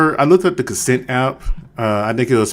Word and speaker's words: CNCNT: Now it's consent, it's CNCNT. That's how you actually spell it.